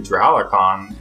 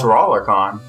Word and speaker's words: Dralacon: i also realized that i've been mispronouncing dralacon wrong this whole time oh i've been calling it drawlercon setting that we started